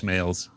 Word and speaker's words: Smails: Judge Smails.